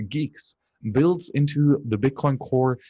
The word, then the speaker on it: Guix: And then he gave an update on his project to integrate GUIX, pronounced geeks, builds into the Bitcoin Core to minimize trust in the build toolchain.